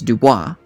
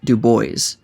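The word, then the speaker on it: Du Bois: better known as web his last name might look like it's pronounced with the french flair as dubois but he has directly stated that he always pronounced it as the very american-sounding dubois while he's a bit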